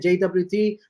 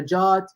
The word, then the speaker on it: JWT: calling it JWT or calling it a JOT.